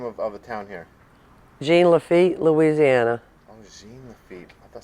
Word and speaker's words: Jean Lafitte: Royal, how do you pronounce the name of the town here? Jean Lafitte, Louisiana. Jean Lafitte. I thought somebody was saying Saint Lafitte.